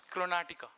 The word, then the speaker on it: Karnataka: So you are pronouncing this as a Chrontica as Karnataka? It's Karnataka.